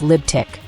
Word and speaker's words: Libtic: The letters T and Q produce a TQ sound, resembling tic, forming the second syllable, while L, G, and B condense into lib, symbolizing a radical liberal mindset. This reformulation yields Libtic, a term that critiques